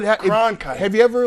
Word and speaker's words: Cronkite: Now, see, people were saying that name for years. Walter Concrete. But Cronkite.